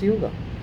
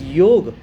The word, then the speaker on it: yoga: on to your chairs even the word yoga is not supposed to be pronounced as yoga it is yoga and and that was